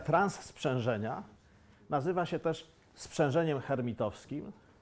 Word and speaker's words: hermitowskim: Ta operacja transsprzężenia nazywa się też sprzężeniem hermitowskim. Może powinienem mówić hermitowskim, bo Francuzi nie wymawiają H, ale już nie bądźmy takimi purystami.